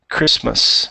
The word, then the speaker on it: Christmas: Christmas, no T. I think I heard a little bit of a T.